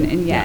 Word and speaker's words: Hsieh: The Zappos guy is Tony doing, Hsieh. and Shea, right, in Vegas, and there's like another group